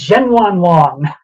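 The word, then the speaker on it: Zhenyuanlong: It is this dinosaur, this new species, and you pronounced it beautifully, I have to say. This is Zhenwanlong, the new raptor dinosaur.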